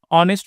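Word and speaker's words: honest: ऑनेस्ट में S silent N लगेंगे।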